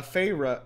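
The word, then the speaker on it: Feyre: um okay well uh farra it's literally just that huh okay so I thought it was like phah I was thinking of like OverWatch Farah yeah um that's that's how it's pronounced uh yeah um okay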